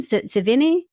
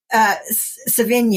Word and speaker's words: Savigny: Savini? Savigny.